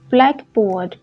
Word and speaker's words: blackboard: Với những danh từ ghép mà từ hai từ ghép lại thì dấu nhấn nó sẽ rơi vào bên tay trái, cho nên các bạn sẽ đọc là blackboard, blackboard, boyfriend. Nhưng khi các bạn đọc là blackboard hoặc là boyfriend thì khi đó các bạn không có đọc một compound word mà các bạn đọc một phrase, một noun phrase.